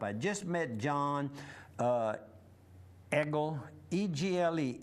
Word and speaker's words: Egle: I just met John Egle, E-G-L-E, Egle. He pronounces Egle.